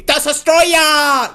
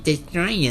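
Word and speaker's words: Destoroyah: Godzilla versus destroya and that's how you say destroya you got to say it like that okay you can't just be like destroy you you have be destroy you this is why I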